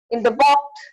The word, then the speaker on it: walked: While in the walked, L sound is silent.